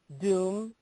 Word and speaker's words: Dum: The most basic mantra for Durga is Om Dum Durgaye Namaha.